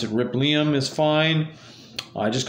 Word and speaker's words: Rippleium: you can see rip Liam right here it is spelled Ripple but it's rip Liam um just depending on where you put that syllable but uh they want want me to pronounce it rip Liam is fine I just called Liam for short